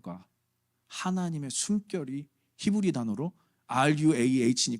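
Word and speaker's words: רוח: 몇 분들은 반대를 했어요이 ruh라는이 히브리 단어가 한국말로는 루하 아고 발음 되지만 영어는 또 루아로 발음 되잖아 이거 어렵잖아요 왜이 어려운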